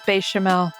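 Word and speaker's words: béchamel: It's bechamel. Oh, yeah, bechamels. Bad. Or good. I like how you put an S, like plural bechamels.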